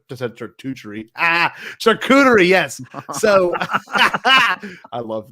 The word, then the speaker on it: charcuterie: How did you pronounce that? It's charcuterie. Charcuterie. Oh, I said charcuterie.